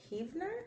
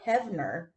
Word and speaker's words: Hevener: 1967 19 year-old Connie Heavener have no hevener that's how you pronounce her last name and 20 year old